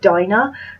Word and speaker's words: Dinah: I thought her name, the main character, was Dinah, but they actually pronounced it Dina, so I'm assuming that they know and that it's Dina.